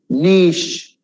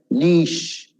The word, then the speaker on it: niche: Niche, you should stretch that I. Niche.